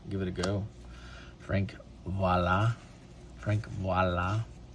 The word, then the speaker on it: Viola: Frank Voila. Frank Voila. See, everyone pronounces it viola and they're they're wrong.